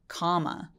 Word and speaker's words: comma: 컴마도 마찬가지로 컴마라고 하지 않고 comma, comma라고 해주시면 돼요.